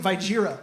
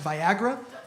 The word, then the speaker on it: Viagra: how to pronounce it she kept calling it by jeera through the whole thing she was like by Gina is gonna be covered for this and by Gira's not covered for that and I I finally had to correct I was like hey just so you know it's actually pronounced viagra she got so in